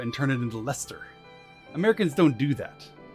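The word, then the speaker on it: Leicester: and turn it into lester americans don't do that it's british that take a word that looks like it should be pronounced in a certain way and then omit two-thirds of the syllables from its pronunciation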